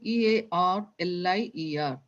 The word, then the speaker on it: earlier: when you are saying EARLIER, how will you pronounce? Let both the R's be silent.